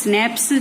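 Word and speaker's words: Schnaps: We have स्नैप्स, स्नैप्स क्या होता है, देखो ये CH है, ये साइलेंट रहता है, इसे स्नैप्स बोलते हैं।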